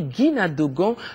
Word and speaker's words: Guina Dogon: maises mes cousins d'gon il faut bien prononcer Guina d'gon l'association poursuit donc sa mission